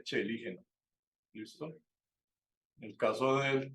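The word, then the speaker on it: Coeligena: común que yo cometía, yo al principio decía coelígena, ¿sí? Después alguien me dijo que no se decía coelígena, sino que se decía celígena. Y hoy en día, con lo que hemos aprendido con el profesor Bayer, sé que se dice chelígena.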